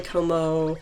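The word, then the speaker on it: Kommo-o: oh it's just really como if you follow japanese pronunciation rules when they repeat a vowel you're just supposed to say it for a longer amount of time of course people can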